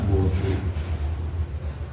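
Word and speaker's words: وضوء: Nah, wawunya wawu di domah. Jadi bacanya wudu yang terkenal ashar itu ee masyhur.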